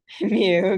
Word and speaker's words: mu: Rhymes with Pew. Mu, good, all right.